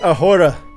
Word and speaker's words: ahora: Y Ahora, with Grupo Firm. Oh my god, he's whipping out the acoustics. The H is silent? I thought so, yeah. Y ahora.